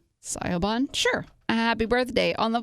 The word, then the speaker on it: Siobhan: Scioven. I'm sorry if I said that wrong. S I O B H A N. Sioban. Sioban.